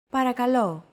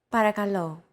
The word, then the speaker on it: Παρακαλώ: Don't forget that words get accentuated in Greek, so make sure to stress that final syllable with the accent mark. Repeat after Chrissy. Παρακαλώ. Παρακαλώ.